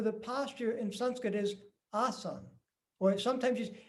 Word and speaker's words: asana: And they're not pronounced as, it's not asana, it's asana. It's ah and sound.